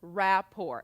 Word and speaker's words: rapport: paperwork and it's spelled this way and it's pronounced Rapport and you're not going to say but you